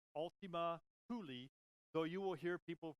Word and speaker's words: Ultima Thule: that we will call it Ultima Thule it's pronounced Ultima Thule so you will hear people pronounced as Ultima Thule Ultima Thule okay fine I'm not gonna argue